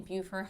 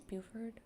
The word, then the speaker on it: Beaufort: one um there is one in buford high i think it's beaufort did i say it right or pleasant hill i